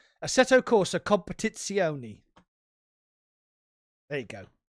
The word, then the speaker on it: Assetto: said English people in Italian, and it's like Assetto Corsa Competizione. There you go. Yeah, so Assetto Corsa that ACC is on PS5, and that doesn't have a VR mode either.